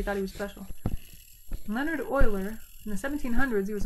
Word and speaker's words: Euler: Leonard Euler. I know, it seems like that's not how you pronounce that name, right?